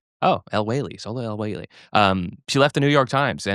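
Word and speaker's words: El-Waylly: But you know, Sola Oh, El Wailly.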